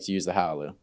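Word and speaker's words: Hailuo: So whenever we're working on a video that requires like any 2D, 3D, we like to use the Howloo. In Chinese, we pronounce it Hai Luo. Hai Luo.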